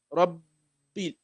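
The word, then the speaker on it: رَبِّ: So you assume that whenever you pronounce the Shadda of the Ba. Rabbi, right? So it's like you're pronouncing one Ba silently and pronouncing the second Ba with Kasra. Rabbi, right?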